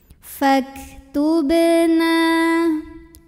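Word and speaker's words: فَاكْتُبْنَا: Maka ini dibacanya dipantulkan dengan pantulan yang kecil dan tetap mengalir. Faktubna.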